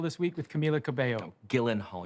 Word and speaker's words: Gyllenhaal: Gyllenhaal. Your name is pronounced Genhal. I guarantee you it is not.